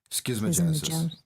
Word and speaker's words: schismogenesis: Schismogenesis.